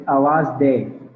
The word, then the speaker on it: awaz.de: You got it pretty much correct. It's Awaz Day.